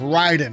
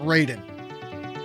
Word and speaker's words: Raiden: the the r in Project the answer is pronounced Ryden not Raiden the a is silent oh yeah by